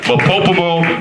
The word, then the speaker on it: MOPOPOMO: Modern, postmodern, MOPOPOMO, rhymes with Kokomo.